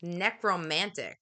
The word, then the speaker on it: necromantic: you say that word necromantic necromantic oh yeah like necromancy oh okay like necrofilia